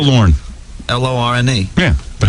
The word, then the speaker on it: Lorne: L-O-R-N-E. Yeah, but how do you say it? Lorne. A lawn. Yeah, Lorne. Like mow your lawn.